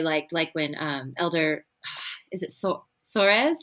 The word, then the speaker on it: Soares: And I really liked when Elder, is it Soares? How do you say his last name? Soares.